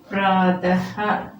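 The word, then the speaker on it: प्रातः: ഈ ചിഹ്നം ചേർത്താൽ അവിടെ ഹ എന്നുള്ള ഒരു ഉച്ചാരണം കൂടെ ഒരു സൗണ്ട് കൂടെ കൊടുക്കണം.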